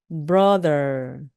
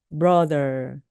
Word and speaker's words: brother: 것들 로맨스라고 하죠 마찬가지로 브러 브러 이때 약간 힘을 빼 주시면서 하시면 됩니다 BR brother 이때도 는요네 치아 사이로 혀가 나왔다 들어가면서 목이 울리는 소리입니다 Brother Brother 형 오빠 남동생